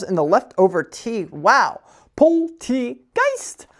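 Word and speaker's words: Polteageist: For everyone's favorite segment of the day, Pokemon pronunciation of the day. Ugh. Poltegeist. Poltegeist. These Pokemon multiply by creeping into teapots and pouring themselves in the leftover tea. Wow. Poltegeist.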